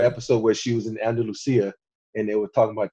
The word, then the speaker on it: Andalusia: Andalusia. Andalusia. But if you're from Spain, it's called Andalusia because it's like it's a type of horse.